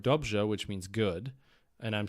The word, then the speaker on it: dobře: And so I wasn't sure if it was the rolled R or the kind of more zh sound, like in the word dobře, which means good.